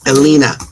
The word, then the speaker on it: Elena: Do you pronounce it Elena or Elena, by the way? Elena.